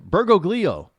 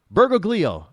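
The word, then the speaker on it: Bergoglio: Mario Berg uh bergo gleo why can't I pronounce his last name bergoo b e r g o g l i o bergoo I think I pronounced that correctly and then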